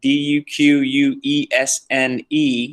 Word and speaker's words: Duquesne: duquesne all right yep d-u-q-u-e-s-n-e okay is french and it's pronounced duquesne all right they're going